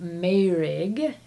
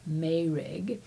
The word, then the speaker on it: Meirg: So, I'm going to jump in with Meurig. It's spelled m e i r g, but I believe it's pronounced Meurig.